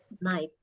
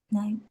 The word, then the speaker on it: night: jadi night itu kan tulisannya pakai GH ya tapi pas dibaca itu gh-nya hilang ya jadi cara membac night night ya Coba diulang night